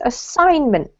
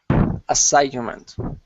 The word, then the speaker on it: assignment: Julian this one is assignment assignment yeah so it's a silent G which is a bit